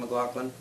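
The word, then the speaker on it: McLagan: We saw Pete Townsend play with Ian McLaughlin. Is that how you pronounce his last name? That's exactly how you pronounce it.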